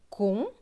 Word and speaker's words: conseil: S avec EIL. EIL se prononce eil. Donc, S et eil. Seille. Donc, ce mot va se lire conseil.